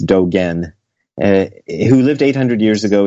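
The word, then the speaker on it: Dōgen: Okay, there was a guy named Dogen who lived 800 years ago, often mispronounced Dogen, but it's Dogen, who lived 800 years ago in Japan.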